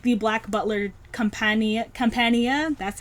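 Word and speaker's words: Campania: like boat arcs like the black butler companion compania that's how you pronounce it that is one of my favorite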